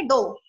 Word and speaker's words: dough: आपको सबको पता है बेटा, ब्रेड को भी जो डो होता है, DOUGH, इसको प्रोनाउंस करेंगे डो।